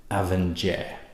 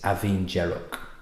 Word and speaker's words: Abhainn Dearg: done some research and I thought this might have been pronounced Avenger that was my guess that was my first guess but I've looked on YouTube and apparently it's aen jerro and I've seen a